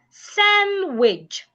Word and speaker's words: sandwich: Then we have sandwich. Sandwich. The D is silent.